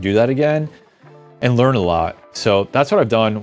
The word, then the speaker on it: Aleo: actually watch anybody from that team speak about Alo for the last uh I've gone back like